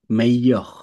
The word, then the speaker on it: meilleure: আলে, Selon moi, Internet est la m- meilleure, মেইয়খ। meilleure এখানে ই তারপরে invention, ডাবল এল যদি হয়, দুজেল হয়, সাধারণত এলটা বেশিরভাগ ক্ষেত্রে উচ্চারণ হয় না, তাহলে মেইয়খ।